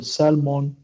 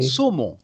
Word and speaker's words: saumon: Ça s'écrit comme ça parce que en français, il n'y a pas de lettre L dans le mot saumon, donc on prononce ce mot saumon. Saumon.